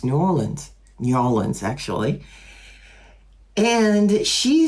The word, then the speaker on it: New Orleans: I know some people pronounce it New Orleans, but it's New Orleans actually.